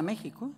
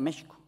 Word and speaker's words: México: famosa México el asiento pero no se decía México se decía México la x representaba ese sonido doble de la sh los españoles convirtieron voces